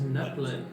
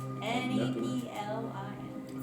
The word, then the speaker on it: Neplin: His name is Neplin. Neplin. Does it rhyme with napkin? No. Okay. N-E-P. Spelling the rest. Neplin. Sorry. N-E-P-L-I-N. Those It necklaces. does Necklaces. end like napkin.